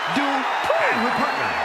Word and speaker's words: Dupri: Uh Michael, it's pronounced Dri.